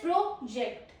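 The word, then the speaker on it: project: Then is प्रोजेक्ट।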